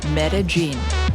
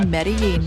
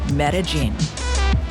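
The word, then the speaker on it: Medellín: just get this out of the way it's pronounced metagene I know I've been saying medin my whole life and you probably were too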